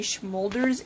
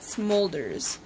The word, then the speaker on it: Smolders: I keep on, every now and then I'll mispronounce her name and say Schmolders and not Smolders.